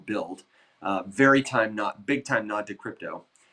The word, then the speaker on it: BUIDL: And BIDL is spelled BUIDL, which is like, the Ethereum way to say, build.